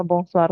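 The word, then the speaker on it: bonsoir: mataharinya belum tenggelam gimana ya tetap aja apa bongsar sudah enggak ada bongsur lagi Kemudian eh bongsarnya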